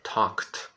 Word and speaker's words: talked: E no passado é interessante, gente, é talked, talked, talked. Não existe a segunda vogal, tá?